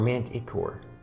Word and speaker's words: manticore: and then core is it manta core or manticore i pronounce it manticore that's manticore not manticore yes